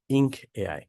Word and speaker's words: 1nk.ai: Today I'll be giving you the demo on 1 and K.AI or we pronounce it as ink AI.